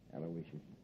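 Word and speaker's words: Aloysius: a break yeah you spell that M name right it's a l o y s i us aloicious sure how did I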